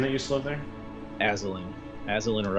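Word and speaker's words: Azalin: was the witch's name that you slept there aslin as a liner x you spell that a-z-a-l-i-n rex rex do we have to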